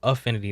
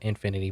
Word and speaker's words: Affinity: it's called Affinity designer Affinity not Infinity but you'll see how